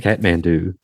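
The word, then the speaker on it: Kathmandu: Oh, c mandu. Okay. Catmand do. Catmand do. Whatever. That's how it's pronounced.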